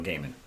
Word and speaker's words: Gaiman: I think that's how you pronounce the last name. Yeah, Neil Gaiman, yes, very famous author.